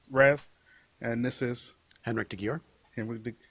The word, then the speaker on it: de Gyor: Henrik de Gyor. Henrik de, how do you say your last name? De Gyor. De Gyor. Okay. Mm-hmm. I think I was saying.